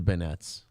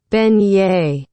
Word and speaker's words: beignets: cajun how do you pronounce it what is it vignette vignette here we go ready on we're both wrong ben yay wow both wrong ben